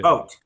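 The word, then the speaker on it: Vought: Vote.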